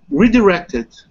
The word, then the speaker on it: redirected: See, when the first time you said it, I heard redirected. It had more of an E sound on the second syllable. But this time you said it with more of the schwa vowel that I was trying to point out to you.